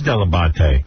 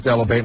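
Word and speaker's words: Dell'Abate: But it was always delate. No, it wasn't. My parents My mother still says Delivate. My father still says Delivate. Oh, really? Say delabate? Because a that's a proper pronunciation.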